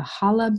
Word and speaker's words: challah: They'll usually bake a challah bread, even though there's a C here. The C is silent, so it's a challah bread.